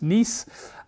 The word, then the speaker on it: Nice: after the city in france written nice but pronounced nice and this model explains as as the resonance